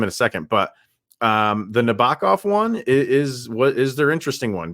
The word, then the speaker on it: Nabokov: Nabokov.